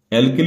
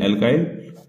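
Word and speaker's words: alkyl: भी कुछ बोलते हैं, एल्काइल समूह बोलते हैं इसको, है ना। स्पेलिंग यही रहेगी, आप एल्किल बोलना चाहें एल्किल बोलें और एल्काइल बोलना चाहें तो एल्काइल बोलें।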